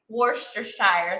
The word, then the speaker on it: Worcestershire: don't have soy sauce you can also substitute Worster Shire sauce that's how I pronounce it I um anybody you know you